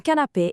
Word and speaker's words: canapé: Finally, canapé, meaning couch. It's masculine. And notice that accent on the A makes it an A sound.